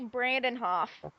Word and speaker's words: Brandenhoff: If you want the pronunciation, it's Brandenhoff.